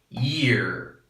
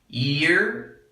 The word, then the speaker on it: year: after me year year you have this extra Y which extends the word a little bit so time year and this one here you don't have to letter Y so the pronunciation is a little shorter than this one so ear ear year